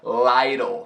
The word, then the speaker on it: Lytle: O sobrenome dela era assim, com a pronúncia Lytle. A-E-I, Lytle. Little, Lytle. Little, Lytle.